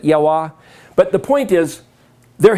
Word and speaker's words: Yahweh: It's Yahweh. Or Yehovah, or that's a whole other matter. How do you pronounce it? Yahweh.